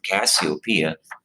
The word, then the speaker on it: Cassiopeia: even realize it now cassiopeia is how you pronounce that word cassiopeia is a pretty famous constellation it's very easily